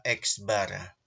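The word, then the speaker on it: x̄: Dibaca apa? Dibaca X bar. Oke, jadi kalau ada tanda seperti ini, itu dibacanya apa? X bar, gitu ya.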